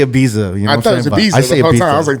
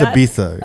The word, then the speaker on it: Ibiza: I usually locked away yeah I usually say a Visa no it's like a thing like it's like Ibiza it's pronounced Ibiza yeah I mean yeah I remember Afrojack all